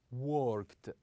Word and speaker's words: worked: We usually pronounce the ending of this verb with the sound ta. With the sound ta. For example, we say liked, liked. Also worked, worked.